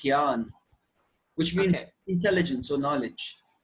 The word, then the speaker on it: Jnana: Gyan Yoga. It's usually spelled with the J-N, but it's pronounced Gyan, which means intelligence or knowledge, right?